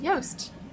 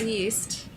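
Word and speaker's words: Joost: that makes total sense yast y that's how it's pronounced exactly right not yeast but yast not yeast it's it's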